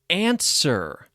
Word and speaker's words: answer: with them number one answer a n s w e r answer has a silent w what is the answer